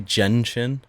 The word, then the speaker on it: Genshin: It's actually Genshin. Yeah, people got angry because I pronounced it wrong.